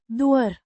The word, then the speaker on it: doar: doar, An adverb meaning only, or just, pronounced, doar, similar to the English word dwarf, but without the final f sound.